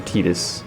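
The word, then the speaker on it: Tidus: Dress Sphere mode has the same animations as Titus, or Titus, if you want to be technical and pronounce his name proper.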